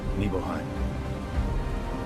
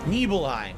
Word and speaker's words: Nibelheim: Nibelheim. Nibelheim. So it's not Nibble, it's Nibel. That's where That's what he said, The dipshit. Nibel, you did a Nibelheim.